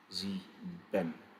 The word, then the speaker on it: sieben: IE is pronounced as E. Sieben.